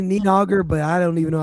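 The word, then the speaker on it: Níðhöggr: No, it's easy. N I D and then hog. H O D. Then just put a R at the end.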